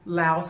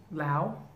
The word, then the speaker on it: Laos: Sometimes Laos happens. Lao, Lao, not Laos, the S is silent.